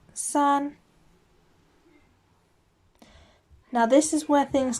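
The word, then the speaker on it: 三: one is the longest of the three that's pronounced sun now this is where things change up a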